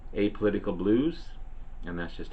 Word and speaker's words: Apolitical Blues: is a song called a apolitical blues and that's just how